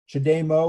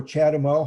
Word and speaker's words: CHAdeMO: non-interchangeable plugs tesla supercharger chademo or chatimo however you want to pronounce it's okay and the ccs